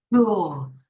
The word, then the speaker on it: drool: Nhã Hân wants to use the word do, not drool, drool. If you say drool, it has the L sound at the end of the word.